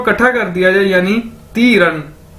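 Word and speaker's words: 敌人: अगर इन दोनों इकट्ठा कर दिया जाए यानी ती रन, ती रन, डी आई यानी ती, आर ई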